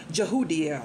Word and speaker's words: Jehudiel: I always pronounce this wrong. Jehudiel.